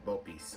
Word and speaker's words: bopis: It's called Bopis or Bopis, properly pronounced it Bopis.